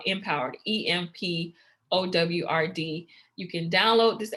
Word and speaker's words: EMPOWRD: It's EMPOWRD, Empowered.